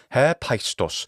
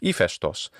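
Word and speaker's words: Ἥφαιστος: Not so easy, perhaps, is the equivalent in the ancient Greek pantheon, whom we call Hephaestus in English and is Hephaestus in classical Attic pronunciation, or Hephaestus in the modern Greek pronunciation.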